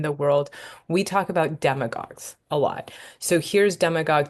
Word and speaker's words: demagogue: behind other words and when you see a word ending in agog often ending with a u e so a go is how you pronounce it it just means leader